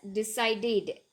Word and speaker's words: decided: Now here, though there's an ed, I have pronounced it as decided, ed, because there is d, duh at last. Okay, pronunciation, or it sounds duh, and that's why I have used when it sounds duh or t at the end, we use ed. That means we pronounce it as ed, decided, targeted.